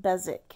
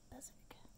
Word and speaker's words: Beswick: and I learned that I've been mispronouncing Beswick. It's Beswick because England.